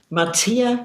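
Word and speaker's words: Matea: Matia, Matia, Matia. It's spelled M-A-T-E-A.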